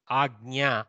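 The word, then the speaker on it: अज्ञा: Agnya, Agnya, Agnya. Little bit of g sound, little bit, not emphasizing Agnya like that.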